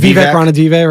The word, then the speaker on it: Vivek Ranadive: Am I pronouncing it wrong? Is yeah, it Vivek Ranadive, right? Yeah, okay.